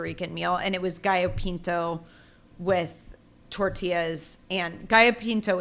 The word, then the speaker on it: Gallo Pinto: Gallo Pinto, yeah.